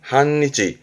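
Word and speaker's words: 半日: 발음은 한니치, 한니치.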